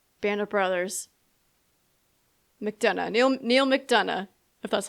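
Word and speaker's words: McDonough: Neil Neil Mcdana if that's how you pronounce it.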